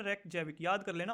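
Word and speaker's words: Reykjavík: रेकजैविक। क्या नाम है? रेकजैविक।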